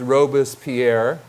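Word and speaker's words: Robespierre: won't say his name correctly but is it's robus Pierre that it's close fact symo okay he was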